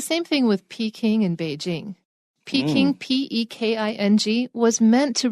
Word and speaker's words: Peking: then people look at P-E-K-I-N-G, which is supposed to be pronounced Beijing, and think it's pronounced Peking, which is why they